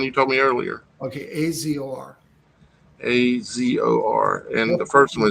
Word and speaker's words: Azor: way you use your last name can you spell it the one you told me earlier okay Azor a-z-o-r and the first one is r-a-y